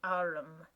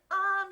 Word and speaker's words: arm: an arm your honor he pronounced it arum an arm you goose whoever saw one that